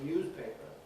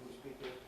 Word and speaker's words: newspaper: Uh there's absolutely no objection to say newspaper but in fact if you listen to native newspapers they normally say newspaper newspaper that sharp s.